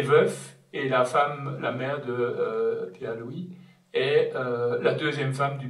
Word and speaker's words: Louÿs: a choisi comme pseudonyme Pierre-Louis, hein, ça s'écrit avec un tréma sur le Y, et ça se prononce Is, dit à Debussy, qu'à